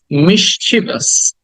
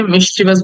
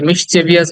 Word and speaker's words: mischievous: For example, word number 31 is mischievous. Mischievous. Mischievous. কি বলি আমরা এটাকে? মিসচিভাস বলি। আমরা তো অনেকে ভুল বলে থাকি। অনেকে মিসচিভিয়াস বলি, অনেকে মিসচিভিয়াস বলি, বাট উচ্চারণ হচ্ছে মিসচিভাস।